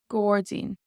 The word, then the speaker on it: gairdín: Gordzine. Now I put this in to show you that the AI here is more like an O sound, Gordzine, but it is followed by an OR.